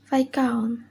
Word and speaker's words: viscount: The letter S. Rule: S is not pronounced before L in the following words. Example: island, isle, ale, islet, and viscount.